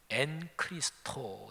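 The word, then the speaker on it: ἐν Χριστῷ: 굉장히 즐겨 쓰는 표현이에요 헬라어로 말하면 n크리스토 이렇게 발음을 해요 영어로 말하면 인크라이스트 그리스도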